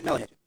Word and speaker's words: Molly Hatchet: was it, is it Motley Hatchet? Yeah. Molly Hatchet.